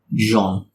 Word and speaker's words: Jean: John. It's Jean, but with the accent. Jean. Jean. Nah, in the game, they pronounce it like John.